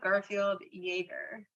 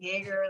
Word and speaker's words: Garfield-Jaeger: So it's Garfield-Jaeger. Jaeger, okay. So cool. Garfield like the cat and Jaeger like Jägermeister.